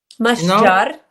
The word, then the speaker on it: Mashjar: Mashjar. Mashjar is a place of trees. Mahal shajar.